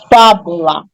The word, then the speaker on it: fábula: Flex pro som fechado exemplo fábula Então vamos pegar a palavra fábula e lembrar Qual é a última sílaba de fábula lá lá qual é a penúltima sílaba de fábula no bu e qual é a antepenúltima sílaba de fábula fa tá entenderam como se